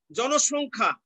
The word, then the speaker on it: জনসংখ্যা: জনসংখ্যা, জনসংখ্যা, জনসংখ্যা দন্ত স এর উচ্চারণ তালব্য স হয়ে যাচ্ছে, জনসংখ্যা।